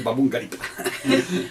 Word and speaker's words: Baboun: ¿Cómo se pronuncia? Babungarip.